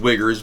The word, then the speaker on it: Uyghurs: right well the wiggers it's not it's pronounced wiggers but it's the you aged it's a very strange spelling how many uyghurs are there in China